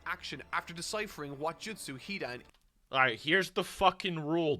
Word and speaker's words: Hidan: First syllable! The first syllable. Alright? Pronounce the first syllable. Alright, that's all you gotta do. It's not the second. It's the first.